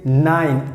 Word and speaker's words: nein: And if you want to say no, so you can say nein, N-E-I-N, that means no. And how you have to pronounce like nine.